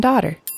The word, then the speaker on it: daughter: These parents have one son and one daughter. Daughter. Daughter. The GH is silent.